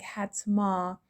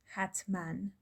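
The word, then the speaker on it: حتماً: And in the second example, it looks like hatma, but it's actually pronounced hatman.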